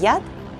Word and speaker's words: пчелиный яд: My parents believed that bee venom or ПЧЕЛИНЫЙ ЯД /pchyeleenêêy yat/ could cure almost anything! And, that it boosts your ИМУНИТЕТ /eemooneetyet/- "immunity" - along the way! Say it with me: ПЧЕЛИНЫЙ ЯД /pchyeleenêêy yat/ (which literally means “bee poison”) and ИМУНИТЕТ /eemooneetyet/.